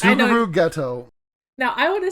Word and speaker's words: Geto: Suguru Geto. Now I want to say, in the dub they pronounce it Gato.